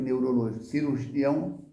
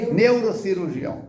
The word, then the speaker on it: neurocirurgião: Teve um médico neuró cirurgião, neurologista cirurgião ou cirurgião neurologista, como é que a pronúncia correta? Neurocirurgião. Bum. Aí, tá vendo? Juntou as duas palavrinhas.